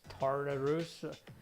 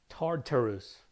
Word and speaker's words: Tartarus: Tartarus. Man, I have to pronounce the T properly. Otherwise I can't pronounce it.